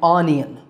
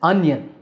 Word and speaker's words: onion: Now this is not an onion, it's an onion. Onion, onion.